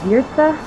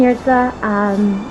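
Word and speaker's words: Jurca: I'm married now, so my last name is Yurtsa, although it's not spelled like it's pronounced. It's spelled J-U-R-C-A. Brilliant plan, hard J, soft J. Anyway, Yurtsa.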